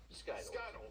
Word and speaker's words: SKTLS: Cody, I know it's how do you pronounce it? Skittles.